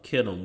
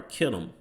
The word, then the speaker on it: Kittim: So Alexander the Greek, he came out of the land of Kittim, which is another Japhetic name/land. Okay, this is Strong's H3794. Kittim. It says pronunciation Kitti or Kittim.